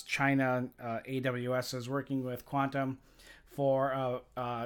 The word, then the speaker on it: Qtum: And Qtum, or Quantum, as it's pronounced, has a deal with Amazon.